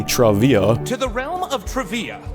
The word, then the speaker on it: Trivia: Legends of Trivia, which I didn't even know until recently is supposed to be Travia.